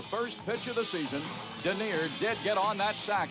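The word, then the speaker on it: Dernier: Look at Denier run. Holy cow. I'd like to have $2 on his nose. Denier, which rhymes with deer, means last in France.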